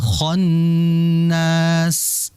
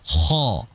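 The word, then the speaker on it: خ: Sehingga dibaca kho bukan kha bukan kha yang betul ko.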